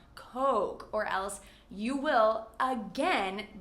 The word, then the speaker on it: Coke: And similarly, Coke is a beverage that you want to pronounce carefully. In many other countries, people will say cola or Coca-Cola, but in the US, we say Coke. And make sure that that O sound is nice and long, Coke, or else you